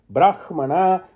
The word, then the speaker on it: Brahmana: So, Samhita, Brahmana, we now know the correct pronunciation. Brahmana, and the 3rd one is Aranyaka.